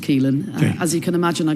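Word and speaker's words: Caoilfhionn: And am I going to pronounce it right, Keelen? Keelin. Yes. Uh it's got rather a lot of letters. Yes. But it's just pronounced Keelin.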